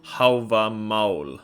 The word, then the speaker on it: Hávamál: Stop saying Havamal. I say Havamal usually because I'm Norwegian, that's how we say it there. Or if you really want to say it right in Old Norse, you can say Hávamál, okay?